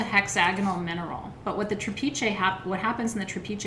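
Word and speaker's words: trapiche: okay so i want to go through what trapeze amethyst is not all trapeze and i want to spell it for you t-r-a-p-i-c-h-e t-r-a-p like trap and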